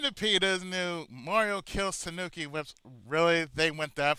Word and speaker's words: tanuki: k i like yeah Tanuki not Tanuki it's Tanuki tan well you know certain